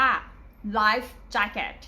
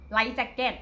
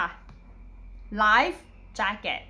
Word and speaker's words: life jacket: การ ออก เสียง เนี้ย เรา จะ ไม่ เอา เสียง ว่า ไลค์ แล้ว ก็ ปล่อย ป่า แบบ นี้ คือ ผิด นะ คะ เรา จะ เป็น ไร jacket Like jacket อัน นี้ ไม่ ใช่